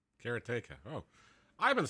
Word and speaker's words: Karateka: But then I've heard people say Karatika, Karateka, and Karateka in other ways. But Karatica is the way I've said it, and I